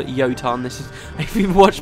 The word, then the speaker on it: Jotun: I swap all the time but the Jan pronounced yotan are the last remnants of an ancient Society